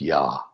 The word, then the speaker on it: Yah: And the first syllable of the Yud He Vav He is Yah.